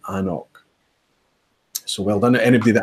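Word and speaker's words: An Cnoc: suggestion on how brands might want their product pronounced. And they're quite happy, it seems, calling it Anok.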